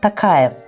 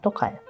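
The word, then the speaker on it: Тоқаев: таким же образом например Касым жар такаев мы говорим русскоязычные так говорят а надо говорить камар токаев Таким же образом например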